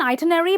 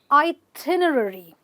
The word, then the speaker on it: itinerary: well they call it they call it an itinerary but it's actually called an itinerary itinerary okay so a travel plan or a list of what you have to do when you are on vacation is an itinerary with the stress on the tin okay um sometimes you